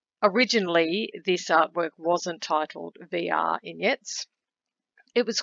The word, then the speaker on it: V[R]ignettes: double t e s think of it as if you took the word vignettes and inserted r to create vr in the word uh originally this artwork wasn't titled vr ignites it was called a